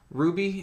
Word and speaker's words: RWBY: case you couldn't tell Ruby in the show is spelled rwb why not like a ruby or the character Ruby yeah yes yes it